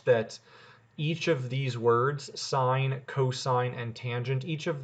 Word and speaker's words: sine: When you see the abbreviation SIN, we'll say this out loud as sine.